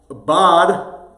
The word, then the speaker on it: bode: Now, bod, or bode, I've heard it pronounced both ways, 1602 records the revisions